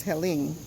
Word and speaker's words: Helene: So this is the remnants of Hurricane Helene. I think that's the way you pronounce it, because it's Helene. Now that's Helene and not Helen.